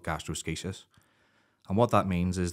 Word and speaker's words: gastroschisis: So it's spelt like gastroschisis. It looks like that there, but it's called gastroschisis.